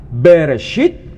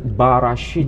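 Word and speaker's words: בראשית: bacanya disebutkan lihat ya Ini kalau dibaca berit eh bukan berit tapi Barit B Elohim asim a beda atau gak cara bacanya beda beda di sini tertulis terbaca beresit kalau di sini terut barasit barasit Jadi kalau itu dipersoalkan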